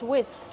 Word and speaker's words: whisk: how do we pronounce whisk whisk the H is silent just use the W sound w w whisk plus the short is sound like this is whisk this is a whisk why